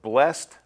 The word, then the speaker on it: blessed: pronouncing some of these the ending sounds of blessed flocked is pronounced more like a tea than a d pulled control called and